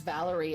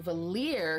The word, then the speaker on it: Valaire: Boten says, like, I pronounced Valaire's name as Valerie at first, but then I went to Valier because it sounded more high fantasy.